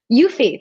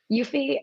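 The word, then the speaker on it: Eufy: first home kit supported video camera I can't pronounce the name right but even bu FY u fee thank you you fee there they're sending me a one of their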